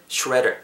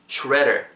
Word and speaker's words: shredder: redder 발음하실 때 R 사운드 입술 말고 하는 데만 좀 더 초점 맞추시면 좋을 것 같아요.